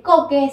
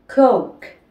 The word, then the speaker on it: coke: más abreviada de coca-cola es coke que no se dice Coque sino se pronuncia coke Así que si un